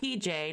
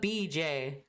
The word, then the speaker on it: BJ: We have over here not PJ, not DJ, not TJ, but BJ.